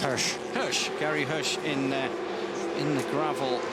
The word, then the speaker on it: Hirsch: And Gary, how is that pronounced? Hirsch.